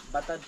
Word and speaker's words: Batad: Ano bang pag-pronounce yan? Batad o Batad? Batad po.